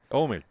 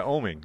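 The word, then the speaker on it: Oeming: ages book by Brian Michael Bendis and uh oming oming yeah oming that's how you pronounce his last name yeah the book is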